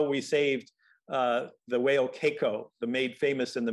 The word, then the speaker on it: Keiko: led involved the Free Willy, how do you pronounce it, Keiko?